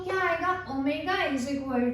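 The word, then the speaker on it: ω: ये जो है हमारे पास सिंबल, इसको प्रोनाउंस कैसे करेंगे आप लोग, ओमेगा।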